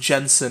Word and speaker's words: Jensen: out I just had told that it's actually pronounced Jensen and I ensign I like there for a second what's gonna stop what stop against yeah Jensen from being in the top five I mean